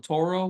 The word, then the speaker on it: Turo: I'm also on Toro, which is spelled Turo.